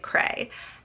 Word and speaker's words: Creidhe: to the audiobook and they pronounced it Cray.